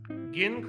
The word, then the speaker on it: Ginn: Did I pronounce Ginn correctly? You absolutely did. Well done. Terrific. It's like a kind of like a GIF situation. And I like to go with the hard G.